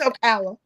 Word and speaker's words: Ocala: Okay, I don't know how to pronounce it. It's Ocala.